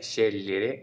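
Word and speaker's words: scegliere: करने की वो है शरे इस तरीके से हम इस वर्ब को प्रोनाउंस कर सकते हैं जो जी है वो हमेशा साइलेंट रहता है अगर बीच में है तो एक और है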